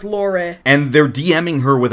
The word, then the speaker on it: Lore: r e but it pronounced La it is pronounced Laur and they're dming her with an offer for